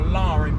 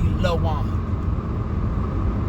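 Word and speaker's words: La'Wuan: And I guess because on my thing I don't emphasize that it's supposed to be an apostrophe between the A and the W. And the W is capitalized. So I understand how people can mispronounce my name for Lauren, because on my ID and stuff, it doesn't put the apostrophe between the A and the W, but really it's supposed to be Lawan.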